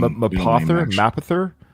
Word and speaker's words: Mapother: It's spelled M-A-P, then it's like map other. Yeah, put the word map and other together.